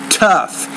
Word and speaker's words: tough: Remember the word tough. You need to pronounce the T with more air.